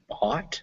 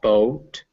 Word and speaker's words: bought: pointer the word is bought not boat bot yeah but just that simple ah sound spelled o u o u g h but it's pronounced ah for some reason we'll